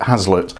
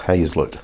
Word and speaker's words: haslet: have heard of it you think you pronounce it Haslett don't let anybody in Lincolnshire hear you call it Haslett it's hayslett they insist and basically what it